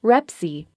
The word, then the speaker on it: REPC: state approved form is the repc pronounced rep see there is not an